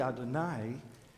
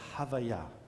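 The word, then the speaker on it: Havayah: name is Adonai but it's not really Adonai the way to pronounce it would be more similar to havaiah which sounds like this word breath God says I'm the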